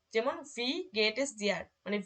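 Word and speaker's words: wie: তারপরে যখন এই যে ইর পরে এ থাকবে তখন এর উচ্চারণ হবে ই, ইর পরে এ থাকলেও এর উচ্চারণটা হবে ই। যেমন ভি গেট ইস ডিয়ার, মানে ভি, এই যে ভি, তো এই যে এখান থেকে আমরা এটা মাথায় রাখবো।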